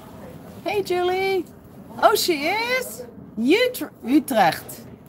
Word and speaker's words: Utrecht: Utrecht. Utrecht is how the English Americans pronounce it.